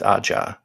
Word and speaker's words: Aja: Who we determined is pronounced Aja, but still.